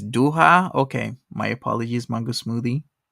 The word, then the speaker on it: Doha: searched it Jason X says uh oh it's duha okay my apologies mango smoothie thanks for the correction duha I've been pronouncing around this entire time yeah it's still